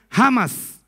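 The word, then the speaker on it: חמס: c a m a s ch pero se pronuncia jamas iniquidad significa violencia escuchen vemos que cuando somos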